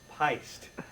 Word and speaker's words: Pyst: one straight it's pronounced pised okay it's pronounced pis wa I'm pissed P Y St T it rhymes with Heist I guess you want